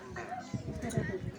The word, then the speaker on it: Ende: Cuman biar terkesan beda, nggak sama kayak di Flores kita bacanya pakai huruf e, jadinya ende.